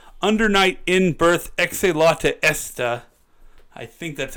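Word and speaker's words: Under Night In-Birth Exe:Late[st]: So it's Under Night in Birth Exe Latte Esta. Interesting. Right? That's how they pronounce it, at least.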